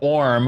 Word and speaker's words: Orm: Orm also rhymes with a lot of other different words. What words, at the top of your head does Orm rhyme with? Well, the first thing that comes to mind is warm, which could mean that